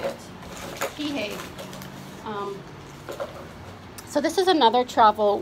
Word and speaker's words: Kihei: Kihei.